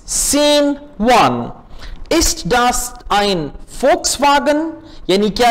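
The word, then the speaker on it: Volkswagen: वी से, वी को German में हम प्रोनाउंस करते हैं एफ, तो ये होगा फोक्सवागन।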